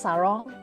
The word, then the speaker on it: sarong: I think it's similar with Indonesian, like I think it's pronounced sarong.